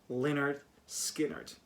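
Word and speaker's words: Lynyrd Skynyrd: south they would answer leonard skynyrd pronounced leonard skynyrd this album is amazing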